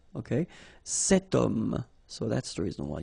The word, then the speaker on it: homme: Remember, H is not pronounced, okay? So you've got the sound of O at the beginning of this word, okay? Cet homme, so that's the reason why you will have to use the cet.